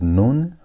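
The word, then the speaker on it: nun: Our next letter is noon. Noon. And noon sounds like N. It's N sound as in the word net. net. And again, notice that there are two forms. Noon is the third among five letters that have final forms.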